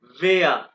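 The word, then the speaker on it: Wer: वेया। Pronunciation is very very important in German language.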